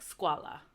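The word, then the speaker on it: scuola: have Guida and then in the word um for school it's pronounced like squala because it's a uo so it still makes a w sound but then you have the o sound that makes the on thaw so it's like squala okay okay and then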